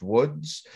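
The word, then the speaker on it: Łódź: also in the city it looks like loads but it's pronounced Woods um and Pinkus I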